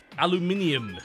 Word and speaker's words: aluminium: all over the place aluminium is the correct way to pronounce it you notice the U in there yeah you notice the minium like you notice the bunch of eyes that are in the word that's why it's aluminium like you can't just